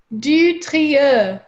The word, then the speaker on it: du Trieux: my first ancestor, Philippe de Mallory's going to pronounce it correctly for us, is a French. Say it one more time. Du Trieux.